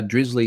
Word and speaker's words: Drizzly: heard of drizzly uh drizzly seems to rhyme with grizzly so they have a